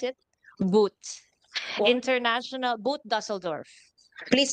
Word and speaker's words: boot: How do we pronounce it? Boot.